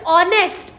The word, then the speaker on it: honest: silent so for example honest h is silent and the next word